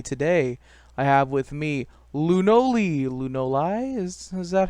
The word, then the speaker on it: Lewnoli: Today, I have with me Lunoli. Lunoli? Is that how I pronounce it? You pronounced it right the first time, Lunoli.